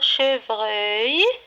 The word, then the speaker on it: chevreuil: Le troisième mot, chevreuil. Chevreuil. Alors, on a la syllabe vreuil. Et on a œil, E-U-I-L.